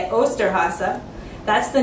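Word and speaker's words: Osterhase: except in Germany he is called the austere Haase this is kind of a big tricky word in German but that's how you say it austere Haase that's the name of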